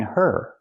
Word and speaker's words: her: sound in of because we don't pronounce the H in her. We link the sounds. Get out of her. Now it's a vowel. Out of her. Not out of her, the H is silent.